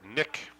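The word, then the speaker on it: Knick: bruins that is Eric Nick I assume that the K is silent yeah I would assume so pronounced KN I see our spell rather KN IC K and for those of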